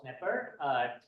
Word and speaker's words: Knepper: It's my pleasure to introduce our speaker today, Knepper. So, Dr. Is the K silent in your name? It is silent, yes.